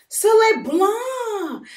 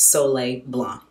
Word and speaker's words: Soleil Blanc: And then I used it toward my first Tom Ford fragrance, which was Soleil Blanc. I think the C is silent. It's French.